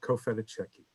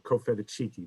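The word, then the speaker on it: Cofitachequi: been working on uh cofedecki or cofeda cheeky depending on how you want to pronounce that a 16th century chieftain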